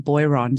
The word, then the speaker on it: Boiron: going to say uh we in Australia we would pronounce the company name boyron so I just want